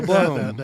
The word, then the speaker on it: Blome: At least you pronounced it correctly. Yeah, Blome.